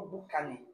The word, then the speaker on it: boucané: Le poisson boucané ou bien poisson boucané en créole. Poisson boucané. Ouais, j'ai bien prononcé. C'est ça. Boucané. Boucané. Ouais.